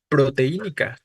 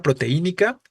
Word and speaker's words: proteínica: no tendría que acentuarse distinto de proteínica Pro te y no ni la palabra proteínica es es drujula como palabra es brújula tiene que acentuarse entonces vean la diferencia